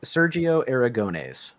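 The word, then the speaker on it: Sergio Aragonés: then Sero Sero Aras I I can never pronounce his name properly Sergio Sergio aragones yes and he's the guy that did group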